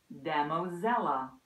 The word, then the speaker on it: Damosella: up I click on it here's the speaker demo Zella the Shakespeare pronunciation app is available on the Apple App